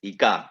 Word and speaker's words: ICA: So ICA, because I mean, a lot of people in India call us ICA as well, but the way we pronounce ourselves is ICA.